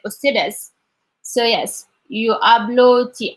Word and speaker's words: ustedes: And then I have to be careful about the sounds because they are pronounced as they are. And for the U is pronounced O. So I say like ustedes.